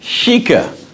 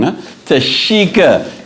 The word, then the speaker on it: Tashika: And I've got with me my guest to Shikica. I said she said everybody is getting her name wrong. Tashika in the house of OSU products.